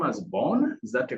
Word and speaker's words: Vaughn: Do you pronounce your second name as Bourne? Is that a correct pronunciation? That that is that is correct. Yep. Yeah. Yeah. Nathan Vaughn and he's an amazing amazing gentleman.